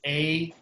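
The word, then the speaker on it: εἰ: Epsilon iota is pronounced A, as in 8. So the word for if is A, and I'll avoid any Canadian comments about pronunciation, which of course I just didn't do.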